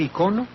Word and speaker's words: icono: a pronunciarlo icono verdad como en español no hay letras largas y y cortas Pues en este caso yo prefiero decir icono porque en griego sí efectivamente la o es larga y ahí que además